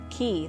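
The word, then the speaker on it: Cay: booked an Excursion at Great Stirrup key that's how they say it key great skirt stroke key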